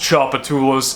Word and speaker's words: Tchoupitoulas: street name that I was talking about it's pronounced Tchoupitoulas for those of you who are not from